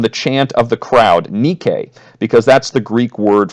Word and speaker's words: Nike: chant of the crowd, Nike, because that's the Greek word for victory. Of course, now, because of the modern shoe brand, we pronounce it Nike.